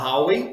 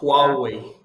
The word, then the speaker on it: Huawei: Você pode falar Huawei ou você pode falar Huawei. Huawei ou Huawei? Isso, tanto faz.